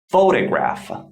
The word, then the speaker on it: photograph: the stress syllable so the stress mark before fo represents that the first syllable is stressed so it is photograph photograph by the way